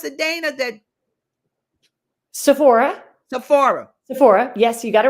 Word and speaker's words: Sephora: How do you pronounce it, Dana? That Sephora. Sephora.